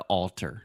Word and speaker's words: altar: married out there the altar altar Alta yeah it's almost like you're saying the author like the writer of a book but without the th so you're saying alter